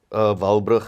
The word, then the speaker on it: Walbrugh: Your surname is it pronounced Walbrugh? Walbrugh, yeah.